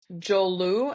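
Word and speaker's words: Joulu: In Finland it's spelled j o u l u.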